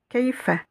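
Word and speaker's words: كيف: Vous voyez qu'ici j'ai une soukoun, donc je vais prononcer cette lettre Kei, Kei, Keifa, Keifa.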